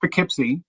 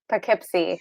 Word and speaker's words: Poughkeepsie: for a long time um but it's it's pronounced poughkeepsie poughkeepsie and it's the uh it's a great rural